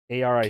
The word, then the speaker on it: Aric: His name's Eric spelled with an A though, so come on, dude. A-R-I... A-R-I-C. K? A-R-I-C. White guy. Aric? It's Eric Nesbitt.